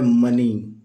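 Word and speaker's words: money: अगला शब्द है दोस्तों एम ओ एन ई वाई तो ये मोने नहीं होता है यह होता है मनी ओ साइलेंट होता है तो ये हो गया मने भी नहीं पढ़ते इसको पढ़ते हैं मनी अपना सपना मनी मनी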